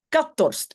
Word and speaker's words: ik had dorst: Donc, le k, c'est ik. Peut-être que ça vous avez trouvé. Had. Oui, on dit toujours un T à la fin, ça d'office. Mais la H, voilà, normalement, on ne prononce pas.